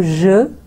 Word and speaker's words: Je: So je, e silent ho gaya, ve, is silent